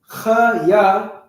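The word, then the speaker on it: חיה: Warrior, Sa'an, school, Bayat Sapar, life, Kaya, Chaya, Salaki. I want to make sure I pronounce the Cha, because it might sound like Ka, which is a different word and a different character. Chaya, Mawath is death, and Adarach is garment.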